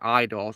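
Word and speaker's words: Eidos: Blaze says you got to pronounce it IDOS.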